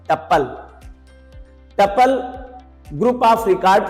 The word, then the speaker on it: tuple: TUPLE pronunciation इसका होता है टपल।